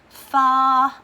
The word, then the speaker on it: fa: I call myself next far a long long way to run one spelled F a which may not really